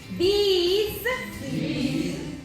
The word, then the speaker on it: these: These, these, that, those. Okay. If you notice this one and this one, this is short. This is long. These.